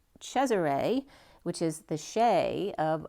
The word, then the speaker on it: Caesar: and Caesar is as actually pronounced chesar which is the sheay